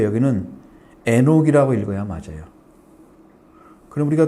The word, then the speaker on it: 에녹: 지금 안노 한옥 한옥이라고 나와 있죠 한옥 근데 하노크 여기는 에녹이 읽어야 맞아요 그럼 우리가 또 에녹 하면 다